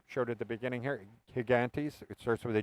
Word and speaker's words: Higantes: at the beginning here higantes it starts with a g though it's called gigantes but it's pronounced higantes it is an absolutely